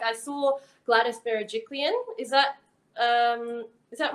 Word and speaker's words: Gladys Berejiklian: a sudden grateful about it like i saw gladys berejiklian is that um is that right premiere yeah